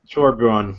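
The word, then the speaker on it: Torbjörn: Torbjorn, yeah.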